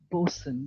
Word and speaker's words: boatswain: as both swain but they pronounce it as bosun the t is silent yes so what do